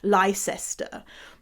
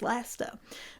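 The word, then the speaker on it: Leicester: get it why he said lie sister but the cabbie was laughing at him and I was laughing at him saying like no you dingleberry it's Lester but um yeah some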